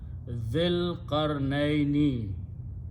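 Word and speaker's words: ذِي الْقَرْنَيْنِ: Do not pronounce this ya and alif, so it will be an dhil qarnaini, about dhul qarnain.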